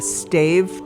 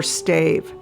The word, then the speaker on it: stave: According to American historians, this type of church is pronounced either stav or stave. Both are considered correct.